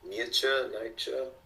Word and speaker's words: Nietzsche: I do not know how to pronounce his last name. Nietzsche.